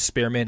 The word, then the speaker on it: Spearman: time you know spirit but I experiment but Spearman instead yeah this one's made sure I said